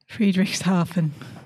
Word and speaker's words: Friedrichshafen: from Romans horn over to British oven so free dish Harvin am I saying it right Friedreich's Harvin Friedrichshafen yeah it's hard to say that one so